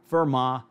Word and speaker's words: Fermat: If I were to say Euler, Fermat, Leibniz, or Descartes, someone would rightly correct me and say that the pronunciations should be more like Euler, Fermat, Leibniz, or Descartes.